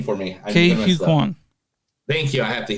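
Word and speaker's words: Ke Huy Quan: Ke-Huy Quan.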